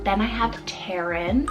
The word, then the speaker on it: Taron: Then I have Taron, spelled T-A-R-O-N, Taron for the boy side.